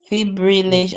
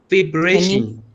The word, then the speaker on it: fibrillation: Fibrillation. I want you to say it. Fibration. No. Look at the word.